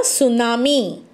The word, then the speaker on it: tsunami: So in case of this word, the pronunciation is here tsunami, but there is no any T in pronunciation, but it begins with T-S-U-N-A-M-I.